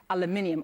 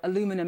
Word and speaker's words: aluminium: this point to the steel and aluminium or aluminum as you Americans say you aluminum I still need to get used to that word aluminum tariffs that were imposed back in March.